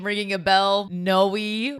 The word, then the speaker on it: Noe: Noe rhymes with Chloe.